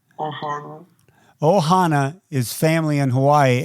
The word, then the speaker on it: ohana: Ohana. Say it after me. Ohana. Ohana.